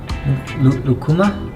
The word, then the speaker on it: lucuma: Lucuma? Yeah, that's how you say it, lucuma.